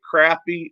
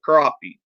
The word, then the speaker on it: crappie: There was a debate on one chat about whether you say crappie or crappie. Well, we all know it's spelled crappie, but a lot of people want to say crappie.